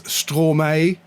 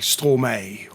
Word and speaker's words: Stromae: I think it's Stromae. Written like this, but I think it's supposed to be pronounced like Stromae or something like that.